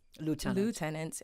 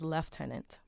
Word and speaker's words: lieutenant: So the U.S. will pronounce lieutenant, and the British system will pronounce it as lieutenant.